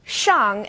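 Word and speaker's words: 上: And this one's a bit tricky because the initial SH is pronounced like sh is in English. X is somewhere in the middle. So let's take shang and xia as an example.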